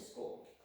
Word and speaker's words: school: See, there's a CH in there, but you don't make the ch sound. You just make the SC sound.